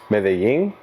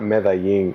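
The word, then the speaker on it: Medellín: uh the Bahamas or medin medin Columbia oh meing I don't know how to pronounce is what's wrong with how I said it it's not meing it's mein mein mein same oh you you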